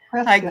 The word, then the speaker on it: Prescott: That's like Prescott, Arizona. Is it Prescott. Prescott? It's Prescott, like a biscuit. it's like a biscuit. Brisket. Yeah. Yeah. Prescott.